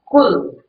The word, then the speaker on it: Qu: To do thing is Q, Q-U. It's pronounced like K-W-I-H.